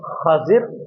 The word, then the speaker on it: خضر: اصل تلفظ کیا ہے۔ اصل تلفظ احادیث کے اندر موجود ہے، حضرت سیدنا خضر علیہ السلام، خا کے اوپر زبر ہے، ضاد کے نیچے زیر ہے، حضرت خضر علیہ السلام،